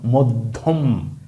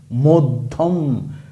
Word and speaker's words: মধ্যম: জফলা থাকে তখন সেই জফলা যেই বর্ণের সাথে ছিল ওই বর্ণের উচ্চারণ ডাবল হবে দত্ত হবে যেমন মধ্যম মধ্যম কল্যাণ পদ্ধ বাধ্য ইত্যাদি